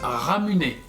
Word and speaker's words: Ramune: Donc la boisson Ramune se prononce Ramuné.